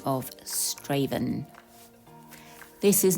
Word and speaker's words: Strathaven: from where i live it's called straven but it's spelt strathaven just to be confusing because i was under